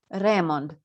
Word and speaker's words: Remond: pronounced pronunciation in italy reemond with emphasis on the first syllable of the name which differs from how